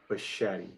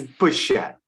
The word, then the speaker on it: Bichette: Yeah. He's Italian. Pronounce CH. That's a tough word to say. Okay. It's Bichette.